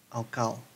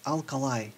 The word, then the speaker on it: alkali: the this is an alkal metal alkal metal it is alkali metal I have to learn to pronounce them correctly the lithium is the